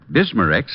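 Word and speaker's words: Bismarex: slowly ease up that gastric distress and finally bismar X leaves a soothing protective covering on irritated stomach membranes well I'll have to remember that bismar Rex is that how you say it that's right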